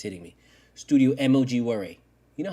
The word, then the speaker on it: studiomogura: I am studiomogura.